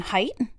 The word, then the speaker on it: Haidt: Now, this is This video is, um, Jonathan Haidt.